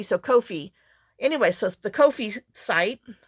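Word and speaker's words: Ko-fi: say it's supposed to it rhymes with no fee so Kofi anyway so the Kofi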